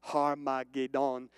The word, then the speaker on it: Armageddon: And in Hebrew, what you're looking at here, and this is the Greek or the English translation, Armageddon, it would be pronounced Har-ma-ged-on, and it was literally like the mountain of God, like the Mount of Megiddo.